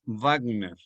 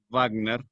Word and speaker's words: Wagner: Wagner se escribe con W, y esa W en alemán suena labio dental. Con G, Wagner. Richard Wagner. La W en alemán suena así, labio dental, no gutural como ustedes están acostumbrados a pronunciarla en inglés.